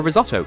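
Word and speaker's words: Rizzotto: Brazilian half Latvian Laura risotto yes it's it spelled differently but it's pronounced the same as the rice dish ler let's get all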